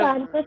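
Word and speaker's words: corpus: यस और सर, ये follicular कार्पस है या कॉर्पस है? कार्पस बोलते हैं, या कॉर्पस भी बोल सकते हो, कॉर्पस भी बोलते हैं कुछ लोग, ठीक है।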